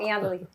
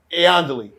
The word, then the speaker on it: Iandoli: So did I say her last name right? Yeah, you said it wrong. Iandoli. Iandoli. Thank you.